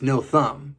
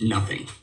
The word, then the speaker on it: Nothum: In Portuguese, it would easily, if you looked at it and they tried to pronounce it, they'd say nothing. They'd say nothing because is kind of sound in Portuguese. Nothing. It's a soft.